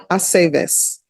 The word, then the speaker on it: Aceves: It's always ve. Bay, Aceves.